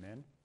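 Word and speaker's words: Minh: AI researcher friend named Min. He's Vietnamese. His first name is Min. It's spelled with an H-N.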